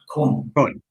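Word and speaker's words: Koen: Is it Cohen? Am I pronouncing that right? Kun. Yeah, Kun Jansen.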